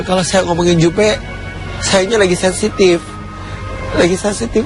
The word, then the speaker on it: Jupe: begitu membaik bukan karena Jupe bangkrut saya sedih banget dengarnya yang aduh ngomong Jupe bangkrut ini bacanya jup itu engak bangkrut tapi